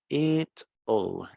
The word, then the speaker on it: it'll: Vamos a hacer un poquito de pronunciación. It'll se pronuncia it'll. ¿Ok? Igualito como si fuera así. It'll. ¿Ok?